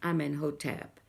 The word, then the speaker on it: Amenhotep: the unusual words, like sediment, and Amenhotep, as Amenhotep, and Giddu, and Heliopolis, and Nacht.